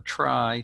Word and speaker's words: trie: the basic technique is called a tri trie comes from the word retrieval i think it was originally supposed to be pronounced a tree but nobody does because it's too confusing and the idea is